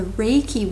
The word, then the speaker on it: Reiki: It's spelled R-E-I-K-I, pronounced Reiki.